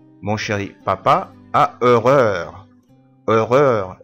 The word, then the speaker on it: horreur: horreur الأو يو آر heure. a heure قلنا قبل كده برضو إن حرف الأش إيه لا ينطق.